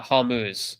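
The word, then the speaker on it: Hormuz: Uh Hammuz, right, that's how you say it.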